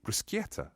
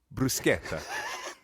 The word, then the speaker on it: bruschetta: I think you're describing to me bruschetta. Oh, you're so close. How should I say it? So how do you spell it first? B-R-U... B-R-U-S, yep, and then what? B-R-U-S-C-H? Yep. E-T-T-A? Perfect.